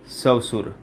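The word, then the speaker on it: श्वसुर: जबकि शुद्ध क्या होता है, शुद्ध होता है सवसुर, सॉरी तालव्य से आ जाएगा। कौन सा से, तालव्य से, सवसुर।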